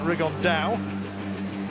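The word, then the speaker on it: Rigondeaux: rig on though or as he's correctly pronounced with the uh spanish accent rig on dao and two absolute geniuses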